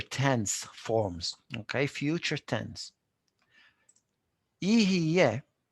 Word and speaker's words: יהיה: Ihiyeh, it's not an easy word to pronounce.